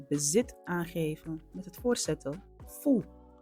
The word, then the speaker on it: fu: Vandaag kijken we naar het bezit aangeven met het voorzetel fu. Fu is precies zoals je het uitspreekt. De U wordt als een OE-klank uitgesproken. Oe.